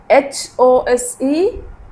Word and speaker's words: hose: You have learned this word O sound with silent E.